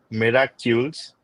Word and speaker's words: Miracules: Okay, next, the final startup, Miracules. Am I pronouncing correctly? Miracules or Miracles MedSolutions Private Limited, Sabir Hussain. Yes. So it's Miracules. It's Miracle Yeah. Molecules. Miracle Oh, Molecules. So that's how Miracules.